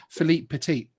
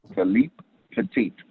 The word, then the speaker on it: Philippe Petit: Did I pronounce his name correctly? Yeah, no, you were spot on. Philippe Petit. Yeah. Philippe Petit.